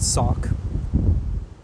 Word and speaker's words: Sauk: It's pronounced Sauk.